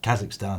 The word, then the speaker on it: Kazakhstan: No, they put Q's in it, but it's still Kazakhstan, the pronunciation.